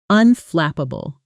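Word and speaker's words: unflappable: And that flap sound should be crisp and clear. Practice with me. Unflapable.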